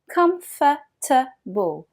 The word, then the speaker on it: comfortable: Énormément de Français disent comfortable, mais les natifs disent comfortable. Comfortable. Le mot est compressé et certaines syllabes disparaissent presque.